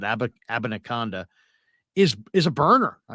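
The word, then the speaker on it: Abanikanda: this this Israel uh and that's how you pronounce it abinacanda is is a burner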